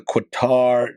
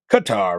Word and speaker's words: Qatar: Let's talk about the quitar jet or Qatar. Qatar, right? I pronounced a qu in an English way.